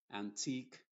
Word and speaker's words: antique: Y en todas las palabras que terminan en que, la U y la E son mudas. Y la Q se pronuncia como K. Por ejemplo, se va a decir unique, antique, mask. ¿Te das cuenta entonces? Esta U en estos contextos no se está pronunciando como una W.